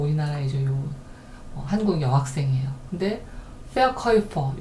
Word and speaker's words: Verkäufer: 근데 Verkäufer, 요게 이제 아우가 아니고 umlaut 우는 오이 발음이 난다고 앞에서 제가 설명을 드렸어요.